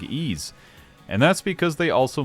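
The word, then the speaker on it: Ys: because they also make ease the four ease players in my audience are impressed I know what ease is and two of them are looking up if that's how it's actually pronounced e ease is more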